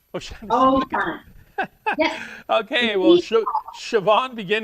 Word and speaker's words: O'Shaughnessy: O'Shaughnessy. O'Shaughnessy.